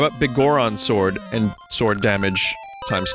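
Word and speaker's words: Biggoron: had a bomb flower that's how you pronounce bigoron yeah it's big goron it's not bigelron it's not bigger ron i guess the elder was saved wait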